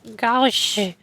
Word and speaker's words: gauche: Gosh? What? Gosh? This is a word? Goosh? Define gauche. Gauche. Why is it spelled A-U? Just spell it with the letter O.